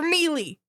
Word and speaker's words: melee: But with magic failing, you are literally hanging out here without any close combat fucking weapons for melee.